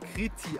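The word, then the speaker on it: Κρήτη: Es gab hier früher Einwanderer aus Kreta und Kreta wird auf griechisch Kriti ausgesprochen, daher der Name.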